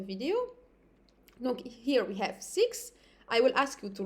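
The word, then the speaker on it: six: It will be 6. I'm not pronouncing the X again.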